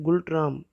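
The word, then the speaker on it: Ngultrum: वहाँ की करेंसी है वो है गुल्ट्राम, उसे प्रोनाउंस किया जाता है गुल्ट्राम।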